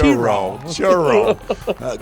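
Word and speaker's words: Cheraw: of Shir South Carolina you got to say it right Rich it's ch churro great job by Travis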